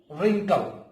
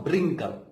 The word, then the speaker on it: wrinkle: Wrinkle. En inglés, aquí W is silent. Por eso se dice wrinkle. Solo pronunciación estas letras. ¿Sí? Wrinkle, no brinkle.